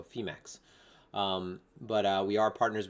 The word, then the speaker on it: Phemex: should know that because phe it's like phoenix right so femax but uh we are